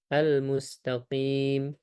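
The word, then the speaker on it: الْمُسْتَقِيم: Almustaqim menggunakan huruf qof ya, juga di antara huruf tebal. Maka harus kita tebalkan al huruf qof di sana. Kalau tidak kita tebalkan bisa menjadi huruf kaf ya. Menjadi huruf kaf. Almustaqim. Kim kim almustaqim itu tipis.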